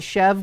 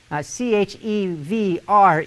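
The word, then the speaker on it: chèvre: cheese this is chef they call it chev goat cheese that i'm not french i don't speak french so someone wants to comment on the proper way to say it but c-h-e-v-r-e chevres chev that's how i say it but it's soft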